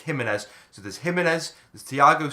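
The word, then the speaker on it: Giménez: So it's either going to be like, I got his name wrong last time, I called him Gimenez, but you guys have told me it's Jimenez.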